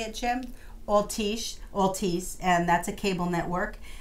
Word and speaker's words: Altice: so how you say it Jim I'll teach Altice and that's a cable network and we've just